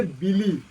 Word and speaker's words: Billy: হ্যাঁ, আমার পুরানা কালের একটা বন্ধু আছে, তার নাম হচ্ছে বিলি। কি নাম? বিলি। বিল্লি নাকি, বানানটা বিল্লি মনে হবে, কিন্তু উচ্চারণ করবি বিলি, BILLY, ঠিক আছে, BILLY।